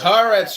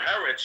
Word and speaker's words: Haaretz: It's pronounced Haaretz, you idiot. That's what I told him. Haaretz, you fucking white.